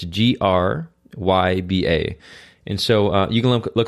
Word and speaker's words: Gryba: So it's Gryba.